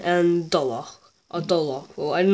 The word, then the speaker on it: Dolgoch: You are meant to be saying dolgoch. Dolgoch. Dolgoch. I know that last part is hard. The kh.